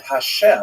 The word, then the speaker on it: Hashem: And the word Hashem of course is pronounced with the letter H.